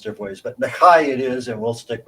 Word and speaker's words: McKay: But typically, our understanding in our branch of the clan and family is that in the Highlands, it's pronounced Mckay.